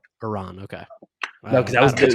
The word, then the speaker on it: Iran: What's the correct pronunciation? Iran.